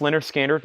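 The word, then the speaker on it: Lynyrd Skynyrd: up this bid let's finish up this B Leonard skinnard pronounced Leonard skinnard nice MCA pressing clean and nice $34.99 on Leonard skinnard XTC is already at $50 we have artha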